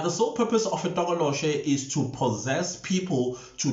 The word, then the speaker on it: Tokoloshe: I did also correct the pronunciation is Tokoloshe, not Tokoloshi or Tikoloshi. It's Tokoloshe.